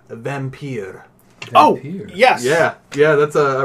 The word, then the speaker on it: Vampyr: I'm going to pronounce it Vampyr.